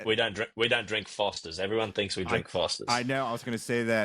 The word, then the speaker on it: Forster: last name wrong cuz they're like oh it's Fosters like the beer. I'm like no there's an R there. It's Foster.